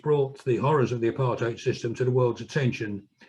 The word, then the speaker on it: apartheid: In the Afrikaans language, apartheid, it means separateness. When the word came to Britain, it was often mispronounced as apartheid. So both pronunciations are on the go, apartheid, separateness.